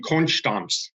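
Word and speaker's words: Konstanz: Mannheim but mostly in in Conch stumps is how they say it nice so and what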